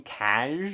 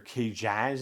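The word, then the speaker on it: Kcaj: oppo rancisis and coleman cash or k-jazz it's spelled like jack but backwards k-c-a-j and as we know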